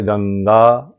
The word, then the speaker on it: गंगा: जैसे उदाहरण दिया हुआ है गंगा और रंग, दोनों में ही अनुस्वार के बाद ग का प्रयोग हुआ है जो क वर्ग का शब्द है। अतः यहाँ पर अनुस्वार का उच्चारण अंग होगा।